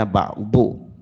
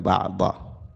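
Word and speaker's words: بعد: Ba'd di situ bacanya ba'du, bukan ba'da. Ba'du supaya dia itu bentuknya mubtada.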